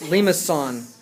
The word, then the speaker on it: limaçon: The C with the little tail on it is pronounced ks, and so it's limaçon.